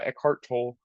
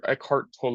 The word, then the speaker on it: Eckhart Tolle: something from a book by eart tol or eart tole I believe how you actually say his name it's it's a book